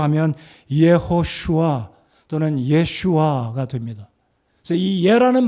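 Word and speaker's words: ישוע: 바람을 구약적인 히브리어 발음으로 하면 이에 허슈와 또는 예슈와가 됩니다 그래서이 예라는 발음이 라틴어 도고 영어로 옮겨가면서 지사스가 됐다고 생각하는데요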